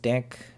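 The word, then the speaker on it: deque: for creating python stocks the key is pronounced deck okay deck and standard for double ended key oh it's idiotic so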